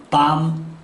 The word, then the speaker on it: bomb: 이렇게 끝이 MB로 끝나는 단어는 이유 불문하고 B가 묵음입니다. 따라서 새끼양, lamb, thumb, bomb, comb.